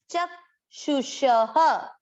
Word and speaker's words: चक्षुषः: एक श ऑलरेडी है, चक्षुषः, चक्षुषः। विसर्ग है ये, इसको बोलते हैं विसर्ग। इसका उच्चारण इसके पिछले अक्षर की मात्रा पे होता है। श में है अ की मात्रा, तो इसको पढ़ा ह, चक्षुषः।